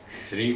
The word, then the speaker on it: श्री: इसी तरह से ये जो श्री शब्द है, कई लोग इसको श्री को स्त्री बोलते, श्री को स्त्री बोलते, तो वो भी ठीक नहीं है, शुद्ध नहीं है।